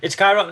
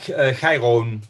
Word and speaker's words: Chiron: Yeah, it's Chiron. I mean, it comes from the Greek Chiron, so that in Dutch it becomes Chiron.